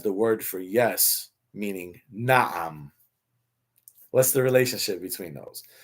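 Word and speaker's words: نعم: Na'am.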